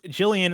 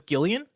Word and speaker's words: Jillian: of Funny You're Wrong, says Jillian is pronounced with a hard G. Shaking my head. Blessing, I thought you were a fan. Hold on. Like a hard G is in is Gillian?